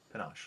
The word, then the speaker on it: panache: something more panache, Okay. which is how it's pronounced according to YouTube. Panache, like ganache.